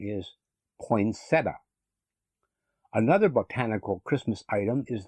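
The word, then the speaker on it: poinsettia: mispronounced words in the English language the correct pronunciation is poinsetta another Botanical Christmas item is the pear tree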